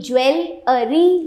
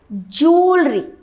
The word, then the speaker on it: jewelry: The right pronunciation is जूलरी. Joule, ये यहाँ पे कहीं जूल नहीं लिखा है, but still you have to pronounce it एज जूलरी. जूलरी. Please get me some जूलरी. या I have purchased a very good diamond जूलरी. जूलरी, right. It इज नॉट ज्वेलरी. This is जूलरी.